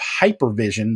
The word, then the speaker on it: HYPERVSN: He's the founder and CEO of Hypervision. That's spelled HYPERVSN.